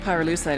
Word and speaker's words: pyrolusite: You know what pyrolusite is, right? Yeah, neither did I. Pyrolusite, key syllable pyro, by the way, is the shit